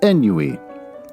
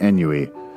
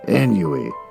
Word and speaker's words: ennui: I read suffered from what I pronounced as ennui. E-N-N-U-I. I told my daughter, after I recorded the episode, she doesn't listen to the podcast or anything, and I said, I had to pronounce words every once in a while like ennui. And she said, "Do you mean ennui?" And I said, "No, ennui." And she said, "You're mispronouncing it. It's ennui. It's French.